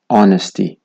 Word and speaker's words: honesty: بیشتن H is silent whenever it comes before ON at the beginning of the words.